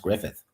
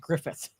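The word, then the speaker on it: Gruffudd: But it's pronounced Grufford or something, but or rather it's spelled Grufford, but it's pronounced Griffith.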